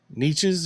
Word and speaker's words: Neches: Neches or Nashes? Neches, that's how I've always heard it. That's how you've always heard it, Neches?